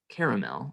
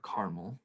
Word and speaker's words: caramel: Recipes for making caramel or caramel, depending on your pronunciation, depend on this burning process.